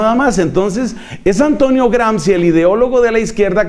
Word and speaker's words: Gramsci: Pero entonces, ya esta historia me la han oído algunos, viene un ideólogo de izquierda italiano llamado Antonio Gramsci. Se escribe G-R-A-M-S-C-I.